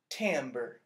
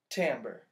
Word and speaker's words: timbre: you say a little different this word is Tambor Tambor can you say that tambour the tender describes the quality of a sound